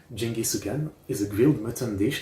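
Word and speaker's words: ジンギスカン: Geniscan, locally pronounced as Jingi Sukan, is a grilled mutton dish that is popular in Oko.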